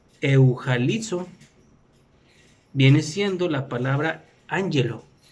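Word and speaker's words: εὐαγγελίζω: Y la segunda palabra que conforma la palabra evangelio, o en griego que se pronuncia eujalizo, viene siendo la palabra ángelo, que su numeral es el 32, que significa ángel o mensajero divino.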